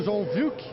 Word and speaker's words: João Wilk: Bom, vamos conversar agora com o bispo da cidade de Anápolis, Dom João Wilk. A pronúncia está correta, bispo? Vamos conversar. Sim, está correta.